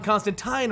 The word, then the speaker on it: Constantine: Well, the fact is, that's actually how you pronounce his name. John Constantine was popularized by the American media. There's actually an old issue of Hellblazer where John Constantine actually states that that is the proper pronunciation for his name, and everyone mispronounces it as Constantine.